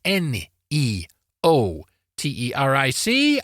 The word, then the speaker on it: neoteric: from Latin in the late 16th century neoteric Neo t e r i c and pronounced in the following Manner neoteric and that